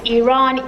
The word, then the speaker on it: Iran: over and over again how to properly pronounce the word Iran. Iran Iran where no it's Iran. E no a no e.